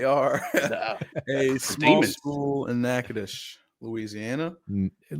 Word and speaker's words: Natchitoches: but you would not know that it's called Natchitoches. It's one of those that are spelled really weird.